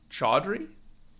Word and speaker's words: Chowdhury: people ask so yeah it's like clam chowder it's like chowder you know okay but